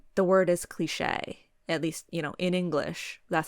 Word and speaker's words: cliché: And to me, I feel like it should sound like it ain't cliche, because I feel like that's how the word is pronounced, cliche.